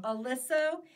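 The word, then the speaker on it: Oliso: Alyssa.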